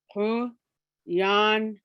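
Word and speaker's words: Quyanna: Kuyana. When I'm teaching high school, I tell the students it's very syllabic. It's syllables. Kuyana.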